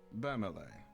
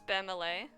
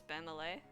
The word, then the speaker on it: Bamele: Bamele. Hello? Oh, I've been pronouncing his name wrong the whole time. It's Bamele. I've been pronouncing his name Bamel this whole time. It's Bamele.